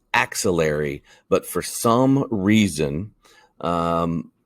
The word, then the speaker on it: axillary: to this word as auxiliary there is no u it is the axillary region and we find that